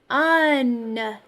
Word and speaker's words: none: I hear un. It sounds like a short U sound, but I don't see a short U in the spelling of that word.